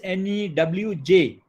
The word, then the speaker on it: Newj: It is N-E-W-J, Newj. You often pronounce it as Newj, but it is Newj. Newj, the way we talk in, say, UP or Bihar, we refer to news as Newj.